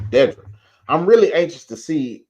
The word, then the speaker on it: Dedra: That's how he pronounces. Dedra.